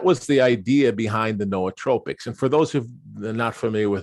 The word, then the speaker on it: nootropic: out so that was the idea behind the noatropics and for those who are not familiar with